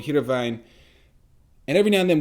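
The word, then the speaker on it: Heerenveen: like that i lived in a town called hiravain and every now and then we go to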